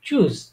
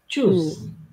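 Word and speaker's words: Tschüss: মুখ ইয়ে করে মুখটাকে গোল গোল করে তারপর উচ্চারণ করবেন ঠিক আছে তো এটা হচ্ছে কি চুজ চুজ চুজ চুজ মানে কি বিদায় ঠিক আছে এটা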